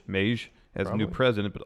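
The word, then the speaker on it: Meij: regime in charge not just Herald how you pronounce his last name Mei J Herald Maish Maish has a new president but also others that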